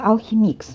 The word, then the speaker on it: Alchemix: По идее читается Алхимикс, но мне что-то кажется, что это просто Алхимик.